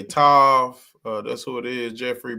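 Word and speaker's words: תו: And they they pronounce it with a V. They're going to get into it a little bit, but you see right here they say Tav.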